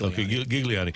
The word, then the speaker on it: Gigliani: SC hired Diego gulani is that right I think it's hard G yes gigg gigliani as president one of the